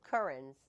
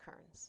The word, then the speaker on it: Kerans: so when i when i people calls you currents no well that's another way they say it